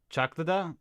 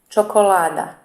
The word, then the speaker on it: čokolada: We have like a ch, so it'd be chocolada? Chocolada? Č. Čokolada. Ah, chocolate.